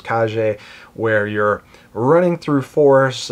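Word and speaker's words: Kage: plays more like the legend of cage or believe the proper pronunciation is KJ where you're running through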